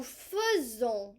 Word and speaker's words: faisons: Nous faisons, kind of sounds like fuzzy. Faisons.